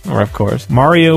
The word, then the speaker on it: Mario: Mario was Marrow.